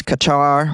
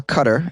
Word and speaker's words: Qatar: the poor camels as Qatar or Qatar as some pronounce it welcomes more than a